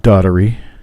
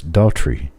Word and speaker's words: Daughtrey: Not Daughtery, not Doherty, not Doherty. It's Daughtrey. It's pretty easy. It's pretty simple, too. Just 2 syllables.